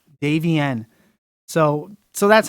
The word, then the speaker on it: Davienne: you so how do you actually say it Davey n Davey n so so that's how I found you and